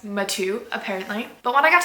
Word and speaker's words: Mathieu: It is pronounced Mathieu, apparently.